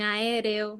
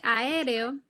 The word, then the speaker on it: aéreo: Sí, por ejemplo, en el caso de aéreo, la fuerza de pronunciación cae en la E. No cae en la A y se acentúa la E.